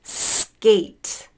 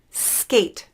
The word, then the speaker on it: skate: it's actually good gate skate skate spelled with a k pronounced more with a g sound next one we're going